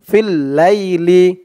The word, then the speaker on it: في الليل: ফা লামজের ফিল, লাম ইয়া জবর লাই, ফিল লাই, লামজের লি, ফিল লাইলি, এই যা চিহ্ন হতে থামলে এখানে উচ্চারণ হবে ফিল লাইল। লাই বলে এক আলিফ টান দিয়ে এই লামকে ধরবে, লামের নিচে জের সাকিন হয়ে যাবে।